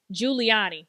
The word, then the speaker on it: Giuliani: Giuliani.